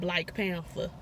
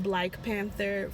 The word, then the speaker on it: Black Panther: um actually Alec Bailey it's not Black Panther for this particular situation it is Black Panther you gotta pronounce it differently black is for everything else this one is black Black Panther PE n tha Penta I tried to talk about this which I like two weeks ago we did nobody want